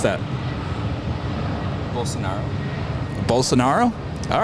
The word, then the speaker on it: Bolsonaro: many languages right no here how do I pronounce that bolsonaro bolsonaro all right easy enough Portuguese there you go